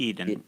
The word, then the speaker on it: Eden: And Zachary Eden, now, am I pronouncing the last name Yes, correctly? Eden.